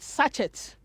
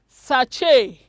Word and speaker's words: sachet: ready let's go there look at this word so many of you call the way you pronounce the word you call it sachet it is incorrect the word is called sachet sachet yes it is